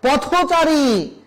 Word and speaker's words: পথচারী: নিয়মগুলো রয়েছে সেখানে আছে তৎসম শব্দ সমাসবদ্ধ থাকলে মাঝে ও উচ্চারিত হয় কেমন পথচারী এটাকে যদি আমি ভেঙে ফেলি তাহলে হবে পথ এবং চারি আলাদা উচ্চারণ করলে আমাকে বলতে হবে পথ পথ না পথ কিন্তু যখন পথ আর চারি একসাথে যুক্ত হয়ে সমাসবদ্ধ হয়ে যাবে তখন আমাকে উচ্চারণ করতে হবে পথচারী দিন বন্ধু বলা যাবে